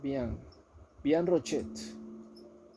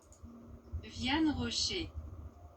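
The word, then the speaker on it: Vianne Rocher: es que se llama, Vian Rochet, no sé si hay un chocolate que se llama Rochet. Bueno, este personaje de Vian, ¿cómo se dice eso? Vian Rocher. Vian Rocher.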